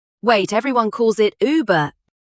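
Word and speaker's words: Über: Uber above over not uber like the app Uber. Wait, everyone calls it Uber. Everyone calls it wrong. The company is German. The word is Uber.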